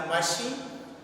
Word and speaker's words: machine: Then in the third word, CH is there in the machine, but it has different sound, show is here.